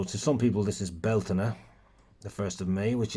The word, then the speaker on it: Bealtaine: butchering the Irish language it's not pronounced beltin it's Bela or you can say Bal depending on your depending on your dialect now uh a a